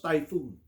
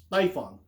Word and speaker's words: Typhon: Typhon tyon missiles no it's not pronounced typhoon tyon typhoon is the name